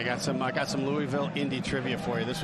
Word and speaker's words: Louisville: home that are saying, "You're saying it wrong. It's Louisville." But I have now lived in Indianapolis for 27 years. So I am prone to say Louisville instead.